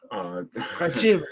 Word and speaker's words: Khrachvik: Also, no, Khrachvik. Khrachvik. Yeah, you got it.